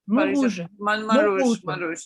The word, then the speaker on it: Montrouge: and then they moved to, how do you pronounce it rightly? Montrouge? Montrouge.